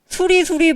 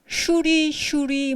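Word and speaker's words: श्री: 수리 마수리 수수리 사바가 산스크리트로 원래 뭔 줄 아세요? 슈리 마하 슈리 슈리 스와하입니다. 그러니까 슈리는 신성하다는 뜻이에요. 그러니까 슈리라는 여신이 있어요. 힌두교 여신이. 슈리라는 여신이 마하 위대한 슈리.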